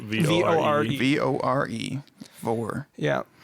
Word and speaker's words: vore: V-O-R-E. V-O-R-E? Vore. Vore. Yeah. Like, or divorce. Omnivore. Oh, like carnivore.